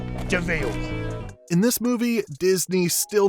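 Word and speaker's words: de Vil: He's spelled devil, but he's pronounced Deville.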